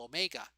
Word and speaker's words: omega: So basically omega, and that symbol omega looks like a W, right? But it's pronounced omega.